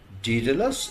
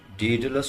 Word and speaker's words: Daedalus: আমেরিকানরা বলে ডিডালাস। ব্রিটিশরা বলে ডিডলাস।